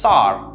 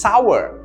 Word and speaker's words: sour: into a lemon right that word is usually pronounced as sar sar people think that's the right pronunciation actually it is not the correct pronunciation is sour sour notice that there are two syllables there very clear sounds sour sour the the